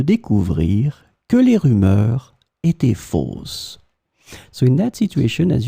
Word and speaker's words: fausse: In this lesson, we will see together two words that are written differently but pronounced the same way. Fausse, fausse.